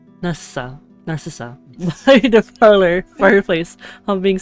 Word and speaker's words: Narcissa: S I keep saying it wrong hold on narcissis narissa Narcissa The Parlor fireplace I'm being singing iwi I